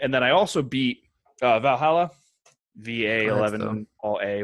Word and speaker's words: VA-11 Hall-A: the name of it it's pronounced it's called Valhalla but it's spelled out V a - when you say